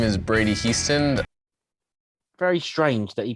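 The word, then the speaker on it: Hiestand: my name is brady houston very strange that he pronounced his own name houston when his name is obviously high stand i mean he's spelled high stand but it's pronounced houston my name is brady houston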